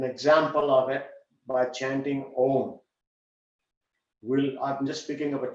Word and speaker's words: Om: When you write that, instead of writing O-M, the exact pronunciation, because it's the way it is constructed, is A, U, and M, three of them. Om, like that.